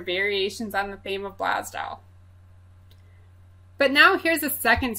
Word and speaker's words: Blasdell: use a village in Western New York called Blasdell. That's B-L-A-S-D-E-L-L. If you're from Western New York, which I'm not, you might take umbrage with my pronunciation. Some folks pronounce it Blaisdell, some folks pronounce it Blasdale, and so on.